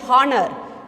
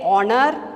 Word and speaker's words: honor: all this will have since we give stress on o honor we don't say honor we say honor corner a vowel sound is there that's why we place and before an honor an honest person an